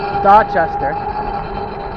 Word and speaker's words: Dorchester: So what happens is now you can go from Dorchester, and this is the Boston pronunciation, or even the English pronunciation, Dorchester. The R's aren't pronounced.